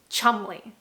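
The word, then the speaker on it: Cholmondeley: They wrote the names and they said, you know what would be really funny if this is actually pronounced chumley.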